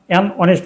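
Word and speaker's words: honest: ব্যবহৃত হয়েছে এ নয় দ্বিতীয় নাউন অনেস্ট এই অনেস্টের প্রথম লেটার এই এই অনুচ্চারিত সুতরাং এই নাউনের পূর্বে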